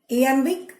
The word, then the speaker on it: iambic: It is written in iambic pentameter. இயாம்பிக் pentameter ஐ இருக்கு. ஐன்னு நீங்கள் அதை அயாம்பிக்னு சொல்லக்கூடாது. ஈன்னு pronounce பண்ணும் இதை.